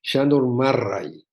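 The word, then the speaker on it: Sándor Márai: de una paciente húngara me dijo que se pronuncia Sándor Marray, así me dijo que se decía.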